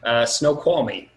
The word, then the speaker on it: Snoqualmie: So first question, how do we pronounce the town you're in? Snoqualmie.